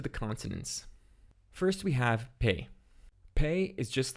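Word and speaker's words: פ: This means that it can be pronounced as P or F, depending on whether it has a Dagesh in it, and it has a final letter.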